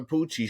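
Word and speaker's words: Pucci: It's Poochie. It's Father Poochie.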